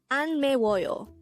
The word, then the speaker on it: 안매워요: syllable is wall and third syllable is yo pronounce it with me again it's an me royo the word an is just the opposite of